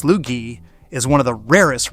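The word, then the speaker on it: Sloughi: The Slugy, pronounced Slugy, is one of the rarest real, fully recognized breeds in the entire country.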